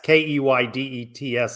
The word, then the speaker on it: Keydets: The Keydets, Keydets, a Southern drawl pronunciation of cadet, and their mascot is Mo the Kangaroo.